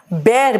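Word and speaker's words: bear: नीव रखना ठीक है बेर बेटा इसको बियर मत बोलना भालू भी बेर होता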